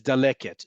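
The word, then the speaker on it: דלקת: I can only read this word based on what the context is as daleket.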